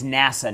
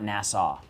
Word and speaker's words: NASA: and not east yeah so it's nasa not nassau it's nasa how do